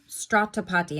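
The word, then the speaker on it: Srotapatti: Strat stratapati and that is how you say it. I looked up the pronunciation and let me tell you exactly what that is.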